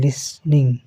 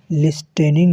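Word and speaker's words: listening: देखिए यहां इसका प्रोनाउंसिएशन होता है लिसनिंग। ठीक है? लिस इसमें टी जो है साइलेंट होता है। लिसनिंग। लिस्टेनिंग नहीं पढ़ेंगे इसको।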